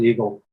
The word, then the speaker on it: EGLA: It's going to be, they have quarterly meetings where EGLA, the representatives are there. I guess I should pronounce it Eagle.